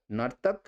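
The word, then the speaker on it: नर्तिका: দাতা দাত্রী, নর্তক নর্তিকা, হিন্দিতে কিন্তু নর্তিকা, বাংলায় কিন্তু নর্তকী, তো এটা উচ্চারণটা দেওয়া হয়েছে, নট এক্স্যাক্ট বাংলা ইয়ে।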